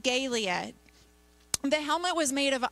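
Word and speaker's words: galea: And it's spelled G-A-L-E-A. And it's pronounced Galia.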